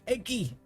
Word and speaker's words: Egi: If Egi is pronounced the same way as it is in 14, then it's pronounced like Dylan Hollis. Eggy! Eggy!